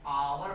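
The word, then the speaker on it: hour: यहां पर भी हमने आवर पढ़ रहे हैं ए यहां पर भी साइलेंट है आवर बड़ा आ से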